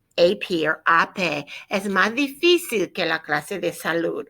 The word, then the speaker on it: difícil: Maybe that'll help you remember where to put your accent on difícil and how to pronounce it correctly.